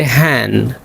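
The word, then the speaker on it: hand: लफज़ है हैंड तो हम बोलेंगे हैंन। तो यह था रूल एन डी का जिसमें डी साइलेंट होता है।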